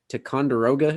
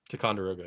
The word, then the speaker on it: Ticonderoga: I'm not sure if I'm pronouncing this right. Ticonderoga, New York. Ticonderoga, yeah. Ticonderoga, yeah.